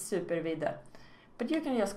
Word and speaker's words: Supervidde: in case you are wondering how to burn pronounce my name it's super Veda but you can just call me super or